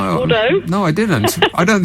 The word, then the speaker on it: Bordeaux: Well, you pronounced it Bordeaux the last time I called, but it's Bordeaux.